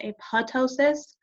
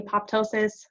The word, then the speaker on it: apoptosis: in the chat box called a puto sious sometimes pronounced a PUD ptosis I say apoptosis actually I say both I guess but basically